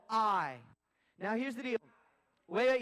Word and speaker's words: Ai: It's spelled A-I. So we have two choices. I can either pronounce it the right way, which is I, or I can pronounce it like artificial intelligence and say AI.